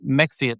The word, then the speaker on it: Mexia: Mexia, it looks like it it looks like Mexia, Texas. That's how it's spelled. But it's Mexia.